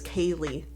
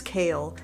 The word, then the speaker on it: Kale: know my name they always read my name as Kaylee they never read it as kale and there's even been multiple occasions where they've been like like I'm not sure you know if I said it right and I'm like oh it's like kale the vegetable and they'll be like